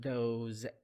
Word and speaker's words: those: The S in these words pronounced as Z sound. Those, these.